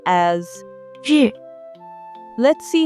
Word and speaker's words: 日: To pronounce this notation, clench your front teeth. 日日日日 This word is the 4th tone, so it should be 日 The origin of this character.